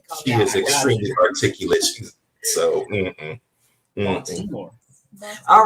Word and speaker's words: Baltimore: And she pronounced it wrong. It's Baltimore. Everybody, it's Baltimore. Baltimore. Silent. Yeah, I was trying to get all that out. I pronounced like a D.